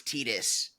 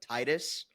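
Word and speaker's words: Tidus: Um, actually, his name is Tetus. Tetus? Who the is Titus? Oh, he is the protagonist from Final Fantasy 10, but his name is spelled in English like Titus, but his name is Tetus, and it was a whole thing.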